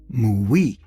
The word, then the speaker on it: mui: So to avoid unnecessary confusion in a confusing subject, I shall pronounce wooi in the Japanese style. Mui.